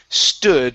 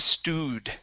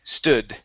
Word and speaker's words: stood: good and another pronunciation this is stood instead of stewed stood yes dead good so